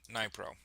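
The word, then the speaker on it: Dnipro: Russian drone strike on a bus killed 12 people carrying mine workers in southeastern city of um Nypro. There's no way you're pronouncing the D there.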